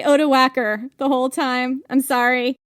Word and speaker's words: Odoacer: So, the name is O-D-O-A-C-E-R, and I've seen it pronounced Odoacer.